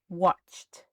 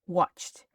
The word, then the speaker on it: watched: So watch the past simple watched like a t watched.